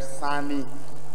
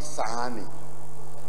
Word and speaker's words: Sani: President, the last name from Taraba is spelled Sani, not Sahani. It's Saleh, Sule, Sani, S-A-N-I.